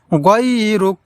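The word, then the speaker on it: غيرك: গাই বলা যাবে না, বলতে হবে গয় গয় গয়রুক গয়রুক গয়রুক। তাহলে দর্শক, এই শব্দটি আমরা এইভাবে পড়ব, ওয়ালা ইলাহা গায়রুক। প্রিয় দর্শক, এই দুআয়ে সানা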